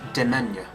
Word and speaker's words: demesne: It's spelt Demesne, but it's actually it's pronounced Demesne.